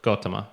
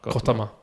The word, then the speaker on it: Gautama: pronunciation of that as well. I think it's more Gautama. Gautama.